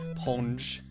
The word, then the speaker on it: Sponge: Sponge, the S is silent. Ponge.